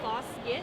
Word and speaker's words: Fosgitt: Fosgitt. I mean, That wasn't even the original pronunciation.